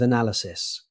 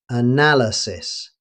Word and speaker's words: analysis: Let's continue with analysis. Many learners accidentally shorten this word, but native speakers usually pronounce all four syllables. Analysis.